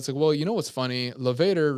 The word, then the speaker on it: levator: Levator rhymes with Darth Vader.